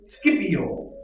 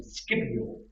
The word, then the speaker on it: Scipio: tunisia carthage is defeated by roman general nucleus scipio that's how you say his name scipio later honored with the title africanus it ends